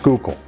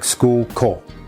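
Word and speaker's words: Schuylkill: It's pronounced skookal like skookal.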